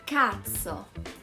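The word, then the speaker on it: cazzo: important is cats so katsu means dick be careful with the pronunciation katso it's a an exclamation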